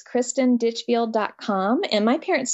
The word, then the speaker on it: Ditchfield: t i n Christen ditchfield just like a ditch and a field so it's Kristen ditchfield